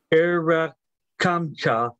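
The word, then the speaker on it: ארחמך: It should be Erakamcha, C-H, pronounced like in German.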